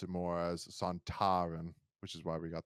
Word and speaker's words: Sontaran: more a Saran but uh but Kevin Lindsay pronounce it more as santarin which is why we got the pronunciation that